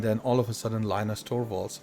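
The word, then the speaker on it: Linus Torvalds: all of a sudden Linus torwals or Lena's torwalls as he pronounces his name uh decided that he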